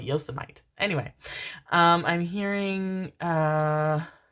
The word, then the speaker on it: Yosemite: I'm hearing which I only learned how to pronounce like five years ago he's called Yosemite anyway um I'm hearing uh yevin yevin yevin